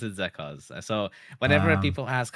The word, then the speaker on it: Zekoz: sure, but I think in general it's pronounced as Zekoz.